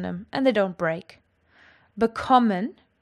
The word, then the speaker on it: bekommen: Bekommen has got its emphasis on the second syllable.